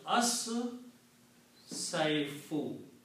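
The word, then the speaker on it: الصيف: this will be pronounced as saifu. Okay, that is what the lam does of this al. It has its sound gets killed by sheen and swad. So, ashita'u and as-saifu.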